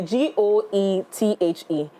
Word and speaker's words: Goethe: But we're going tomorrow, 6:30, to the GOETHE. What am I pronouncing? Goethe Institute. Cantonment.